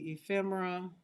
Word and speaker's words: ephemera: So ephemera, but it just looks like remember.